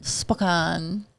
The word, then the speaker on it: Spokane: Spokan. How'd you say it before you moved here? I didn't. Okay. What do you mean, dude? The Spokane. How do people say it? Spokane.